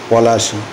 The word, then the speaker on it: পলাশী: তাই তখন থেকে এই অঞ্চলের নামকরণ হয় পলাশী। কিন্তু ইংরেজরা পলাশী উচ্চারণ করতে গিয়ে উচ্চারণ করত প্লাসি।